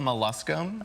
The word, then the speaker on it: molluscum: It's called molluscum.